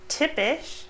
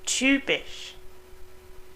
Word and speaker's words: typisch: It sounds like in English Ü, like typisch, Physik, hypothetisch, or Hymne. These words with a Y in the middle sound like a Ü. So don't let those confuse you. It's not typisch, but typisch. Typ, not tip or type, but typ.